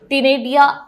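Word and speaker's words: ctenidia: feather like gills called टिनेडिया are present, C silent आ गया, तो टिनेडिया present होता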